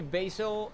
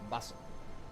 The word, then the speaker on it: Basel: English would be Basil. Basil brush would be prime example. Yeah. Not is Basel, right? Not Basil. Basel. I guess it's the correct pronunciation, right? Basel. Yeah. Basel like that.